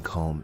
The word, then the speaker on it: comb: is a comb now please note that the be in comb is silent comb we also have another